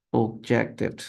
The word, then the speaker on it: objected: Y aquí también tenemos objected, objected. Miren, aquí sí añadimos una sílaba extra, objected. Pero aquí no, complained, complained, two syllables. Objected, aquí sí aumentamos una sílaba más.